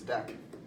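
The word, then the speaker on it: deque: called a deck and a lot of people pronounce this DQ it's not DQ its deck and a deck is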